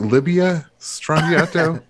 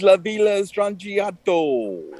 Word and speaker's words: La Villa Strangiato: Is it Libya Strangiato?